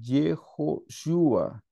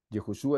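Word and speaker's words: יהושע: de strong strong hermanos en hebreo Josué se dice jehoshua jehoshua es el nombre del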